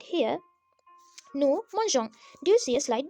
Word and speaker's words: mangeons: And if you're thinking why that has happened, it's to maintain the pronunciation, because if you don't have E, it would be nous mangeons. Nous mangeons is wrong, so we have to put the E, so it is nous mangeons.